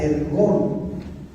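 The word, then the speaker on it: ἔργον: Es ergón. Escúchame. La palabra griega llamada, o que quiere decir, o que se pronuncia ergón.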